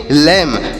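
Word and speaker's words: lamb: और भी देखते हैं एल ए एम बी तो देखिए एल से पढ़ेंगे ल और ए का यहां पर उच्चारण ए की मात्रा के रूप में और यम से म होगा बी साइलेंट है यानी बी को हम यहां पर नहीं पढ़ेंगे इसे क्या पढ़ेंगे इसे पढ़ेंगे लम और लेम मतलब क्या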